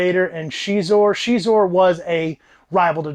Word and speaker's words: Xizor: Xizor, and that's how you pronounce the name, I think that book says it, has this ability to produce pheromones and can control people.